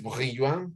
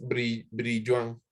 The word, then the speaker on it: Brillouin: Es muy formalmente es Brillouin, pero lo vamos a decir con la R aquí en español. Es Brillouin, se dice. Aunque, aunque he escuchado otras pronunciaciones, de hecho. Brillon o algo así. No, a una amiga francesa le pregunté y me dijo algo así como Brillon, pero casi todos escucho que dicen Brillon.